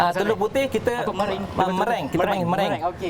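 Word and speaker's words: meringue: Okey, Tapi mering. kalau ejaan dia kita akan panggil merengue. Oh, dia macam bunyi merengue. Jawa sikit. Oh. Dia akan bunyi Jawa sikit tapi dia sebenarnya mereng Mereng, saja.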